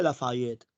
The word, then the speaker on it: Lafayette: Se escribe Lafayette, se pronuncia Lafayette.